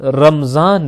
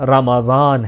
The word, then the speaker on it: رمضان: لہٰذا یہ لفظ رمضان نہیں رمضان ہے.